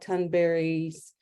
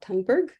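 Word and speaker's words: Thunberg: is a powerful image it's taken from Greta turnberry's that's how she pronounced it her name uh not tangberg so it's taken from her book it's called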